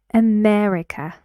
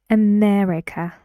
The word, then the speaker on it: America: name listen to me America America four syllables right right where does the stress go America yes it's true so you need to say this with that long loud vowel which is e America this is